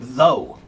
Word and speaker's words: though: So, for example, the word though, t h o u g h. Though, that's a weird word, right? Why do we spell it that way? Why o u g h is just o.